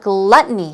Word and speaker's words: gluttony: another synonym what about gluttony here we go stress goes on the first syllable gluttony gluttony oh good not just